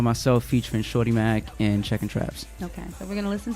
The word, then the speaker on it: Checkin' Traps: Speaking of features, this next video that we have featuring Shorty Mac and Checkin' Traps.